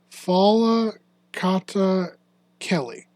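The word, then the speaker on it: Falcatakely: So I believe it's pronounced Fala Kata Kelly.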